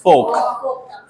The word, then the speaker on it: folk: इसे तो बहुत सारे लोग फोल्क ही बोलते हैं या फोल्क। तो इट्स नॉट फोल्क और फोल्क, इट इज फोक।